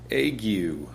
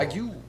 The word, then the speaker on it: ague: How does one pronounce... There's no accents. I don't know how to do it. Ague. So I was right. Cool. Ague.